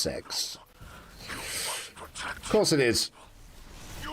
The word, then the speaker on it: CeX: It's actually pronounced sex.